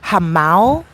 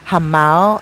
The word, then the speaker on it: Jamao: Hamao is a beautiful area to buy in, guys. Hamao, I think it's spelled Jamao.